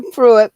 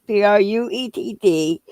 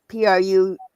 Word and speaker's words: Pruett: Yeah, it's a Pruett, Pruett. So Woohoo! you Go got ahead. it. They got different ways of pronouncing the name, They got Pruitt and Pruett.